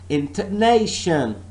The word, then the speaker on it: intonation: intonation a right internation so this word has got full syllables and I'm not stressing all the syllables I'm not stressing all the parts of this word I'm only stressing one part of this word and I am saying and I'm pronouncing this word as intonation your stress ISM ney